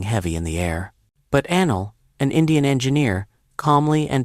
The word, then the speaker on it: Anil: But Anil, an Indian engineer, calmly and deliberately invoked the new rule. 1. My name is Anil, pronounced Anneil.